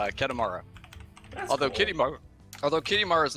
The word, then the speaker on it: Kedemara: so I figured just make a little closer to how it would be pronounced so ket Amara although although Kitty Mar